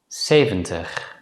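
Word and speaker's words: zeventig: Before we conclude this lesson, it's worth mentioning that nowadays many native Dutch speakers pronounce the letter Z as a voiceless consonant S.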